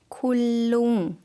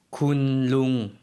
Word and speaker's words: คุณลุง: คุณลุง คุณลุง 마찬가지로 룽이라는 거고요. 쿤이 앞에 붙어 있습니다.